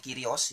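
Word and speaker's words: κύριος: dalam teks Yunani itu kyrios tulisannya kurios kita bacanya kyrios Ya itu terjemahan yang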